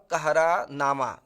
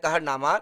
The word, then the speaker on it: कहरानामा: अखरावट आखिरी कलाम और कहरानामा कितने लोग कहते हैं कहरनामा लेकिन हमें उच्चारण करना होगा कहरानामा चित्रलेखा और इनका जो